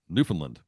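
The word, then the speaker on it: Newfoundland: you say it well the correct pronunciation is newfinland New Finland Newland is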